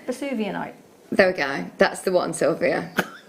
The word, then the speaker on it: Vesuvianite: How do we pronounce this, Liam? Got to try again. Yeah, that sounds about right. Vesuvianite.